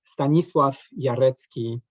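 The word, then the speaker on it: Stanisław Jarecki: okay you know me if you want to pronounce my name uh correctly then it's stanislav yaretsky and i'm from poland uh you know when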